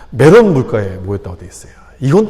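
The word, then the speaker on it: 메롬: 메론 물가에 모였다라고 되어 있어요. 발음을 잘 하셔야 되는데 발음을 잘못하면 좀 이상하게 돼요. 메론 물가에 모였다고 되어 있어요.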